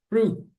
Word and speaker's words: fruit: E não pronuncie, por tudo que é mais sagrado, não pronunciem a letra I aqui é frut.